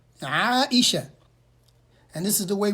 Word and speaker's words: Aisha: of the believers, then the correct way to say it is Aisha. Aisha. Aisha.